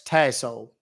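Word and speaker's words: Tassohl: my last name is my last name is t a SS o h l it's pronounce tassel all right Mr tassel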